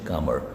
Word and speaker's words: calmer: You will feel कामर, इसका pronunciation है कामर, CALMER, कामर मतलब शांत, मेंटली दिमागी रूप से आप शांत हो जाएंगे, एंड इमोशनली भी आप शांत होंगे।